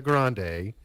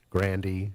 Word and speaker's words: Grande: both her mom Joan she's a grande Grandy however whatever pronunciation you choose her dad's last name